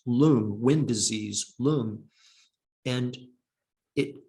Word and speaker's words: lung: a phenomenon an experience called lung l-u-n-g it's a tibetan word it we westerners would call it lung lung is is pronounced loon wind disease loom and